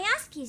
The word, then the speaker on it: Rayashki: Rayashki, so that's how you pronounce it.